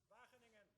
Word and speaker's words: Wageningen: Now, tell me how to really pronounce that. Wageningen.